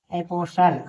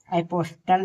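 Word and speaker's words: apostle: कि जैसे ए पी ओ एस टी एल ई एपोसल यहां एपोसल पढ़ेंगे इसे एपोस्टल नहीं इसे एपोसल पढ़ेंगे यानी यहां टी साइलेंट है बी आर आई एस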